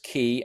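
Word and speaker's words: Caye: Amberris Ki and Ki is spelled C A Y E.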